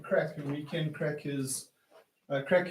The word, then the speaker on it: craic: It's going to be called Weekend Crack, and Weekend Crack is crack is spelled CRAIC. It's a Gaelic word or an Irish word for news, so it'll be called the Weekend Crack.